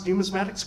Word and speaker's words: numismatics: majest and Asthma thank you because you actually pronounce numismatics correctly absolutely which is highly unusual but it's